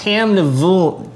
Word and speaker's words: Tamnavulin: It's Tamnavulin. Dang, I'm going to get that wrong. Anyway. Drink it. Don't pronounce it.